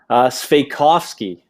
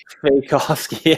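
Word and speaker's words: Svejkovsky: So, Andrew, I want you to tell me a little bit about him and how to actually pronounce that last name. Sveikovsky. What? Lukas Sveikovsky.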